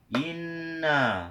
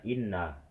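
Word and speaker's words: إنّ: Nah, ini kan seharusnya kita itu dengungkan dan kita itu agak menekannya sedikit ya teman-teman. Kalau kita nggak pernah belajar tajwid, kita pasti akan bacanya inna, inna, inna. Enggak, kita tahan sedikit atau tekan, dan enggak juga kita dengungkan ya teman-teman.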